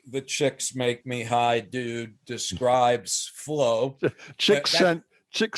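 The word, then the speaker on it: Csikszentmihalyi: i'm not he said he told me this is how i pronounce my name chicks make me high that is not true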